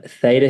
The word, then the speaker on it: Theta: So, basically, um, theta healing or teta healing, whichever way you want to pronounce it, it works perfectly.